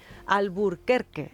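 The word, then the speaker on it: Albuquerque: Abuquiki al burquerque está allí destinada. Como es una palabra en español, conviene decirlo en español.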